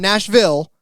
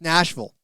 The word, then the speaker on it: Nashville: So, uh I I did pick up on the vernacular out there and how to pronounce it's not Nashville, it's Nashville.